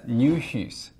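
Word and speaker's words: ñuhys: But nuhus. Nuhus. That's how you say my.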